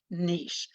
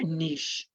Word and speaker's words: niche: It's like rich with the N, or niche, and that's like it's sort of like nich, screech.